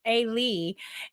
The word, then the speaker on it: Elie: right i know so it's not eli it's a lee ely elie tanza so um and then